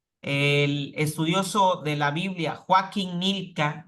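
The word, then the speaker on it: Joachim Gnilka: estudioso de la Biblia joaquí nilka así se llama joachín nilka así se escribe joachin joachin nilka defiende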